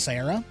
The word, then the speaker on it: Sierra: uh there is uh it looks like it's spelled sierra but it's actually pronounced sarah and i just really